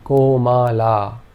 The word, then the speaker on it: Komala: In this case, all three vowel sounds are long.